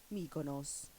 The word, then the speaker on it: Mykonos: They say it like this. Mykonos.